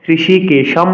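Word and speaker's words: হৃষীকেশম্: হয়ঋকারকে উচ্চারণ করতে হবে বাংলাতে কিন্তু আমরা ঋ করি হৃদয় ঋষিকেশ এভাবে বলি সংস্কৃতের মধ্যে স্বতন্ত্র উচ্চারণ করতে হবে বলতে হবে দীর্ঘসবর কেশাম সংস্কৃত শ্লোক উচ্চারণের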